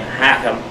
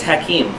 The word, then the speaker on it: Hakim: Zane is the guy some might try to pronounce his name hakkim um but it's Hakim Hakim Zane one of